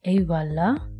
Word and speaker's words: Eyvallah: what does ewala mean it pronounced like a voila okay and what does